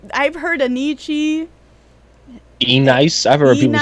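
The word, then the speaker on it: ENYCE: The pronunciation originates from the phonetic spelling of NYC, but sounded out in Italian fashion. Anichi.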